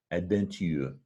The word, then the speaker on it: adventure: So that's the word in French, adventure. Adventure. We pronounce it chur.